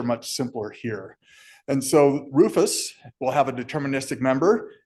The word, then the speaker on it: RRFS: In the government, we pronounce every acronym, so that's Rufus.